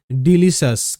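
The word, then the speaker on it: delicious: এটা ডিলিসাস।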